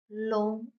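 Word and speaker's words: 龙: L, on, l, on, long, long. Second tone, long, long means dragon.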